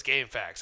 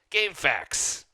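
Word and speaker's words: GameFAQs: Yeah, it was Game Facts. I was trying to say it correctly, not say it incorrectly. Game Facts.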